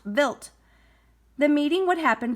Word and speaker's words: Wild: The plan was for the spacecraft to meet a comet called Comet Wild 2, pronounced Wild.